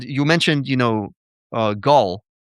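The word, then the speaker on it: Gall: And you mentioned, you know, uh, Gaul, it's not Gail, it's Gaul's law.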